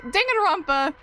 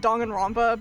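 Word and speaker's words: Danganronpa: Um, I I can say Ding and Rompa. Um, you spelled it perfectly. I even say it wrong. I know it's supposed to be said Dong and Ramba, but I've been saying it wrong since like 2016.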